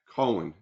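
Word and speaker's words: Coen: yeah, Cohen, That's yeah, how it's pronounced.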